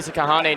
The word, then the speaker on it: Kahane: check in right now for silent k kahane Nate Moore I expect